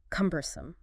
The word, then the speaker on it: cumbersome: Cumbersome. C U M E R S O M E. C U Mome. stress on the first syllable. Yep. Three syllables.